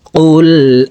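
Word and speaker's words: قُلْ: দেখুন কুল আউ কফকে জিহ্বার গোড়া থেকে উচ্চারণ করতে হবে।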